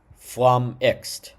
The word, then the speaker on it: flummoxed: flamixed, right? So, that's two syllables.